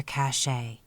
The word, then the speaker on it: cache: were Mighty busy Chipmunks filling their cachet to use the Western term that rhymes with today meaning a hiding place